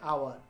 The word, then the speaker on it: hour: We don't pronounce H. We pronounce from O.